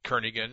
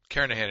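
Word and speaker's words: Kernighan: will be using the kernigan and Richie or Kahan I should say the g is silent karahan and Richie C programming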